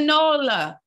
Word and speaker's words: NOLA: And we're looking for men ages 30 to 50 in New Orleans, in the NOLA. Is that how you say it? Yeah, down in NOLA.